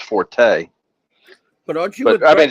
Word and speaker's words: Forte: is in it or Fort the Forte well it's really Fort but Forte and 't more be yeah he says Forte but actually the correct pronunciation is Fort but like know mean